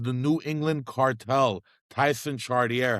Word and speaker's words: Chartier: Yeah, I just say Chartier. Chartier.